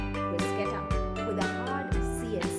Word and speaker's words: bruschetta: Whenever we order this at Costco, we always pronounce it as bruschetta and no one ever corrected us. For the record, it's bruschetta with a hard CS sound.